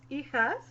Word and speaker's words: hijas: No, it's Hijas. Please, yeah, people don't say Hijas yeah. or Hijas or Hijas. In Spanish, Hijas. H is silent, so you say hijas, which is daughters.